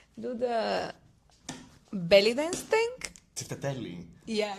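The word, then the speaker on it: τσιφτετέλι: how do you say do the belly dance Tsiftedeli? Yeah. How do you say it? Tsiftedeli Tsiftedeli.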